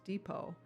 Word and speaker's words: depot: don't understand that I do know that it's pronounced Depot just the same like you know it's the